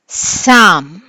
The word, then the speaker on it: psalm: Psalm, P is silent.